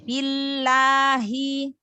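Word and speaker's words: بالله: Ayyuminu maqabi billahi. Lamnya dibaca tebal apa tipis? Sebelumnya berharokat kasroh. Tipis. Iya, masya Allah ya. Iya, tarqiq ya atau tipis.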